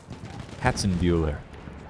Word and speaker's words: Hatzenbuhler: say my last name you say my last name like this hatson buer it's just like hats and and then ber like Ferris ber um I think the